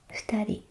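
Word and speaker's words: 二: the kanji for people, futari, 2 people. So in this example, this kanji is pronounced futa.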